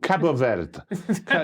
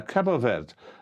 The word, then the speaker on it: Cabo Verde: Yeah, Cabo Verde. Cabo Verde. You mispronounced the name, and that's it.